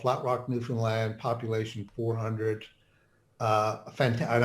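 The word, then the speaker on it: Newfoundland: you get people coming to you and saying New Foundland and does it annoy you uh that annoys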